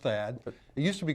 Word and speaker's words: THAAD: Yeah, it's pronounced THAAD.